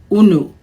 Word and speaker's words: unu: that we use, and we pronounce it unu. This is the Igbo word una.